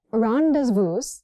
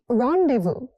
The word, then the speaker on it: rendezvous: This one is tricky. Not rendevous. It's rendevu.